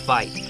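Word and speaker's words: wyd: got their name from an Afrikaans word for why that's pronounced fight a little misunderstanding and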